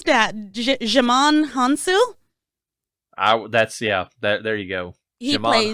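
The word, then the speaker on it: Djimon Hounsou: How do you pronounce that? Jimon Hansu?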